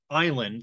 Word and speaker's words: island: And island, they were like, oh yeah, that comes from isla and insula and all of that. Let's stick an S in there. And they were wrong. It comes free and clear from German as island, I-L-A-N-D, right?